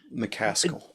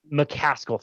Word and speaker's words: McCaskill: However, that said, should we call him your opponent, the person you were, debating with, Chris McCaskill? Did I say his name right? McCaskill. McCaskill.